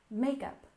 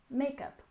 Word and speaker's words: makeup: and next we have makeup with stress on the first syllable makeup makeup and of course these